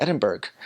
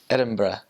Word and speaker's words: Edinburgh: I was like oh I'm going to go to Edinburg and she's like no never say that again CU that's not how you say it I was like oh it's like it's Edinburgh so Ed it's they also